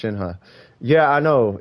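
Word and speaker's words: Shenhe: it's all good though I acknowledge is shinha but I pronounced it Shin because I prefer in this a fictional character not like she'll get mad I'm pronouncing it wrong yeah two minutes to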